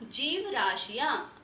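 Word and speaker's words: जीवराशियां: जय पर क्या है? बड़ी की मात्रा है और श पर क्या है? इ की मात्रा है, ठीक है? तो ये क्या बना, जीव राशियां। आपको ई का भी उच्चारण अच्छे से करना है।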